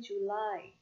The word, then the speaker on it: July: Ini bacanya bukan Juli ya, tapi July.